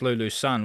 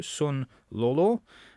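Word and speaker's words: Sun Lulu: in the tennis uh you remember her as Lulu son we've been calling her in the in the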